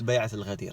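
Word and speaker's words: بيعة الغدير: Okay, so it's Bay'at al-Ghadir. Bay'at means pledge of allegiance.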